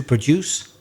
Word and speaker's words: produce: oil as a produce if i change the stress and put it on the first syllable so to produce a produce it means